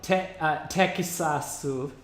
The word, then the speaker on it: Tekisasu: It's literally called Tekisasu, like Texas.